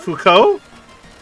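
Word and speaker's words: Foucault: or die like n like it's like okay faux cult or Thomas aquinos there you go F Fuko Fuko or Thomas you said FAL whatever whatever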